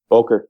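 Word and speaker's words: Böker: Made good connections with the guys over at Boker. Is that how you say it? Boker Knives? Boker, yeah.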